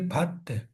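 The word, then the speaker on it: baht: Thailand की currency पूछी जाती है भत्त। भट्ट या भत्त इसको कहा जाता है, भात प्रोनाउंसिएशन है इसकी, भत्त।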